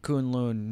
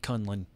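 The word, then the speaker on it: K'un-Lun: more saying Kunlun wrong it's still Kunlun not Conlan Conlan I hate the fact they keep calling it con one hate that's so much I don't care that's actually how it's pronounced I have been saying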